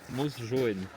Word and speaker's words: Mosjøen: Mosjoen. Mosjoen? Ouais. Mosjoen, bon bah ça part. On est à Mosjoen et on est en train de visiter une rue très sympathique.